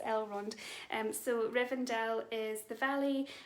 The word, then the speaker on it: Elrond: runs and i think i might have said eldor and i what i meant was el rund um so rivendell is